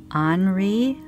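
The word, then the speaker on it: ANRI: They are vintage Henri, I think you would say, A-N-R-I. Those look like initials, so I don't really know if you just pronounce it Henri.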